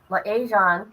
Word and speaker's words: liaison: Advocates say that a dedicated liaison, right?